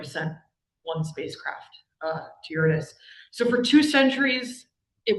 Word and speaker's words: Uranus: The name the the planet is pronounced Uranus. It just just please. Okay. All right. So, I fast forward to the 1970s and we have yet to send any mission to Uranus.